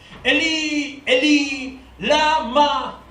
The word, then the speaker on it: Eli, Eli, lama sabachthani: Cerca de la hora novena, Jesús clamó a gran voz diciendo: Eli, Eli, lama sabachthani. Así se pronuncia en hebreo. Eli, Eli, lama.